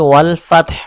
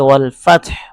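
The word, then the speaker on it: والفتح: এখন এখানে আমি যে ওয়াল ফাতহ প্রথম আয়াতে ওয়াল ফাতহ পড়েছি এখানে তা এবং হা উভয় দুটি হরফ উভয় দুটি হরফ এখানে সাকিন উচ্চারণ হবে তাও সাকিন উচ্চারণ হচ্ছে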